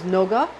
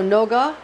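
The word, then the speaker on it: נוגה: Then we have Venus, which is pronounced for the Hebrew name of the planet Venus is Noga. So Noga, we have Venus here, Noga in Scorpio or a crab, Noga in a crab.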